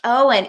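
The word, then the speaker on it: Eoin: average spin it's pronounced Owen e o i n is pronounced Owen that's cool that's weird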